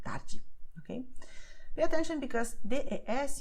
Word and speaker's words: tarde: is the fact that the combinations the I, the E, well, the I always and the E at the end of the word, they have a sound that is like J in jeans. So you say Diego tarde.